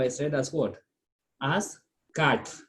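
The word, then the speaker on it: quatre: As cat, not quat, okay? Because of that U is silent, so you consider the next vowel. So we say cat, okay?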